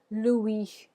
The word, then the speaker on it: Louis: pronounced muy in French no s you don't hear the s at all so go ahead and repeat after me Louis Louie Louie crabby I'm